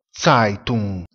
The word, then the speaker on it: Zeitung: La lettera E seguita dalla lettera I si pronuncia AI. Utilizziamo sempre il sostantivo lavoratore, Arbeiter, si pronuncia Arbeiter. Giornale, Zeitung, si pronuncia Zeitung.